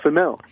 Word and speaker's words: Female: ...I had the honor of running in with this femelle. So i found out it was true story! They named her Femel and she still goes by Femell. It's spelled female That is great